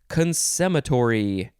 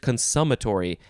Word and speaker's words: consummatory: or is it cons i think it's just consummatory it shows the uh what is it the schwa sound the upside down e in the pronunciation guide so i keep on thinking e but no it's an uh consummatory c-o-n-s-u-m-m-a-t-o-r-y adjective from 1648